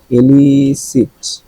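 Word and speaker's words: elicit: আছে এটা কি তাইলে এলিসিট মানে বের করে আনা একটা ছিল না এলিসিট এটাও ইলিসি দুইটার উচ্চারণ কিন্তু সেম এটাও ইলিসি এটাও ইলিসি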